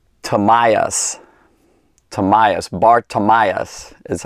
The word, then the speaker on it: Bartimaeus: means son of and then it's tamias tamias Bartimaeus is how it's pronounced and this this dude by the way